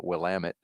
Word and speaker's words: Willamette: shout out to Oregon I can actually properly pronounce uh Willamette in NAIA on October 18th of 97 Katie